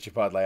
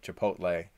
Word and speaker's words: Chipotle: I know a lot of people don't, but we pronounce it Chipotle. I know people pronounce it Chipotle.